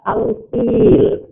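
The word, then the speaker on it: الفيل: Cara membacanya, alif lamnya dibaca jelas, lamnya.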